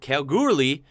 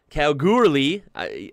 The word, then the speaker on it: Kalgoorlie: Kalgoorlie. No, not Calgary, Canada. Come on now. Kalgoorlie.